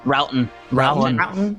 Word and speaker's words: Troughton: So our first bracket will be Christopher Eccleston versus Patrick Troughton. You know, don't pronounce the T. What? With Patrick 9th Roughton. Roughton. I see. Because it's British.